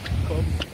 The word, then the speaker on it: Kop: Kop. Like Kop.